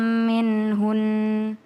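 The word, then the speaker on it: منهن: Asa ayakunna khairam minhun. Ya, itu benar yang dibacakan tadi ini kalau ada nun tasdid di akhir minhunna ini ya minhunna itu kita kalau berhenti jadi minhun. Tahan dulu hun.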